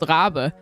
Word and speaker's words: Rabe: Rabe, as they said, it's actually a German name. It's pronounced Rabe, and it means raven.